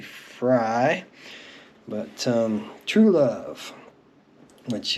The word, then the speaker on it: Frey: want to pronounce it I do believe it's supposed to be fry but um true love